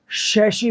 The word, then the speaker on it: chassis: But upon English की बात करें तो सही प्रोनाउंसिएशन तो इसका शैशी होता है सिंगुलर में, और प्लूरल में इसका शैशीज होता है।